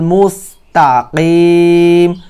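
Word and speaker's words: مستقيم: মোটা করবেন ইহদিনাস সিরাতাল মুস্তাকিম অনেকে বলে তাকিম বলে এখানে কফ শব্দটি হচ্ছে কলকলা শব্দ এই হরফটি হচ্ছে ভাই মোটা হরফ এই হরফটি হচ্ছে ইকফার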